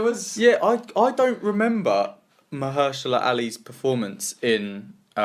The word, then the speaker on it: Mahershala Ali: it till last because I still struggle to pronounce his name. Actor in a supporting role. You got his name right. Mahershala Ali.